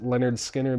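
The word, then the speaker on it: Lynyrd Skynyrd: And then pronounced Leonard Skinner.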